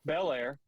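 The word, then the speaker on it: Belair: well I can't say her name right now Bel Air there we go and then the third one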